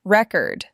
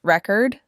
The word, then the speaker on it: record: Like record, the noun versus record, the verb.